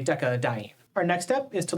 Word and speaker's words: decadiene: Normally, we wouldn't include the A here, but without the A, it would be two consonant sounds next to each other, decadiene, so we add the A as a syllable modifier to give us space to say decadiene.